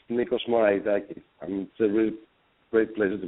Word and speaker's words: Nikos Moraitakis: And And what is the correct pronunciation of your last name? Hey Megan. It's It's Nikos Moraitakis.